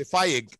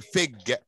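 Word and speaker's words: fig: لان ما بنطقش الاي. انا بنطقها اكنها كسره اكنها كسره. بقولش فايج لا بقول فيج.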